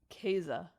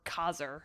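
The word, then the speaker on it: Kaser: Anyway, with that lovely little disclaimer, in this game, you play as what the internet has assured me is pronounced Keza, or Kazer, if you're just going to read it.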